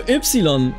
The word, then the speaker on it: Ypsilon: So Ypsilon, I'm not even kidding, is actually how it's pronounced in Greek.